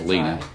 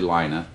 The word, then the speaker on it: Lina: for mispronouncing your name I thought it was Lena but it's actually Lina lots of other people